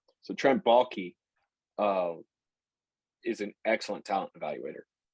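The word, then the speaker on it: Trent Baalke: with, Trent Blockay, or I slaughter his name every time. Because I see the way that that's spelled, and I immediately think Key and Peele for some reason, with the Balake, but it's Balky.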